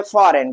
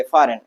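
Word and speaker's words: foreign: रिजाइन क्या पढ़ेंगे align हम क्या पढ़ेंगे डिज़ क्या पढ़ेंगे साइन और क्या पढ़ेंगे फॉरेन क्या पढ़ेंगे फॉरेन तो ऐसी जगह पर हम जी का प्रोनाउंसिएशन नहीं करते हैं अगला लेटर कौन सा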